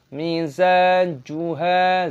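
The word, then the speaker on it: مِزَاجُهَا: Ka'saka, "ka" ada tanda alif pada kafnya, sehingga dibaca panjang: kaana mizajuha. Huruf "za" dibaca panjang, ada tanda alif (mad) thabi'i, panjangkan dua hitungan.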